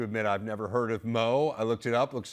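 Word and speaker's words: Moe: I have to admit I've never heard of Mo I looked it up looks like maybe uh 90 minutes or so from Melbourne what what's describe your hometown yeah it's a very small town we pronounce it Mo that's where I kind of spent all mo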